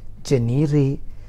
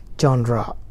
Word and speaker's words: genre: people read it as janeeri some people read it as janier but the real pronunciation is genre genre i love the genre classical genre okay that's the real pronunciation